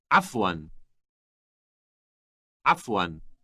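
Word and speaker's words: عفوا: to your welcome listen f1 f1 note that the first sound is produced in the throat how do you say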